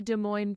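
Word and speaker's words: Des Moines: dener Den it's the it's the De Moine pronunciation really it is it is because the the middle and the end s are both silent yeah but you hit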